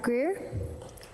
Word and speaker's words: Greer: Robert Greer, rhymes with beer.